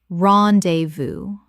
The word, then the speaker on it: rendezvous: po-pour-ee potpourri Word 210 rendezvous Common mispronunciation: ron-day-voo Correct pronunciation: ron-day-voo Three syllables with the S completely silent from French.